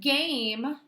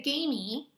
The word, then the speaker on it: game: right reading the word game do you hear me say an e sound at the end no you don't hear mrs. Schmidt say gamey or game at that